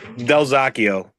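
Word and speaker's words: Dalzochio: your honor yes yes the correct pronunciation of your name please Del zako your honor Delio good morning to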